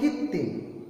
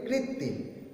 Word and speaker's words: কৃত্রিম: সেরকম কীর্তিম, আমরা বলি কীর্তিম। হ্যাঁ, কয়ে রিটা আমাদের উচ্চারণে আসে না, আমাদের আসে কয় হস্যই, কিন্তু তা নয়, উচ্চারণটা ঠিক করে করবে কৃত্রিম, কয়ে রি।